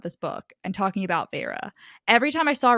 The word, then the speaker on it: Feyre: and it's spelled Feyre, and I only know it was Feyre because I listened to this on audiobook when I read it for the first time.